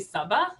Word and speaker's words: Sabaa: My name is actually Sabaa. It rhymes with Baba.